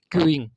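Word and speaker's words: queue: क्यूइंग एंड क्यू, about क्यू, same pronunciation even if the last 4 words are removed. यदि आप क्यू, जिसको हम पंक्ति बोलते हैं, इसके लास्ट के 4 लेटर्स आप रिमूव कर दोगे तो भी सेम प्रोनाउंसिएशन आएगा इसका। ई हटाने पे भी क्यू बोला जाएगा, यू हटाने, यू ई दोनों हटाने पे भी क्यू बोला जाएगा, चारों हटाने के बाद भी क्यू ही बोला जाएगा, और ये पांचों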